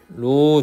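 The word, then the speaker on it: ρ: 이거는 고등학교 때 배우는 거여가지고 하여튼 부력은 로 GV라고 하는 식이 있어. 로라고 읽어.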